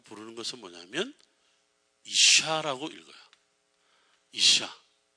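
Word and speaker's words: אִשָּׁה: 그 다음에 여자라고 부르는 것은 뭐냐면 이샤라고 읽어요. 이샤.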